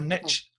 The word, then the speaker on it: niche: for many years, is to niche down, or niche down, as the Americans say, niche down.